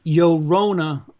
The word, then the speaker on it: Llorona: It's pronounced Llorona, like Corona. Llorona. Roll the R's.